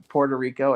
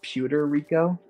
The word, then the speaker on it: Puerto Rico: Mania and they uh Clark mispronounced Puerto Rico as pewter Rico pewter Rico so Johnny went um